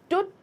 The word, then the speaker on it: Tut: जो तुत है हमारे, एक्चुअली स्टूडेंट्स के बहुत सारे प्रोनाउंसिएशंस है। तुत भी है, टुत भी है, चहट भी है, जो मैंने आपको पहले बताया था। ठीक है, तो कई अगर आप अलग अलग सुने तो आप कंफ्यूज मत होइएगा। ये बेसिकली टुत जो है सबसे कॉमनली यूज प्रोनाउंसिएशंस है।